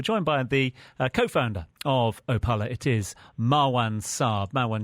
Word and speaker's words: Opaala: here in studio am i correct in suggesting opala exactly it's a pilot okay and explain the